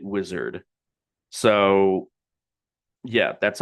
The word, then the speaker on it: Uizard: Okay, so right off the bat, he is pronouncing it wizard. So yeah, that's how you pronounce it is wizard platform.